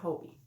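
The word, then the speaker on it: Hobbii: a Hobie um Hobby the girls on Bingo do you play Hobie Bingo they pronounce it Hobie um but anyway yeah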